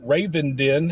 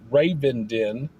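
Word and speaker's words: Ravenden: I learned how to pronounce it. I didn't know how to pronounce it, but I have been corrected by Elizabeth on local northeast Arkansas city names and how to pronounce them. So, it's Raven Den and uh yeah, I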